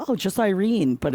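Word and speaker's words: Yrene: Oh, it's pronounced Irene. Just Irene.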